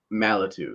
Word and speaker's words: Malatu: Am I pronouncing it right? Malatu.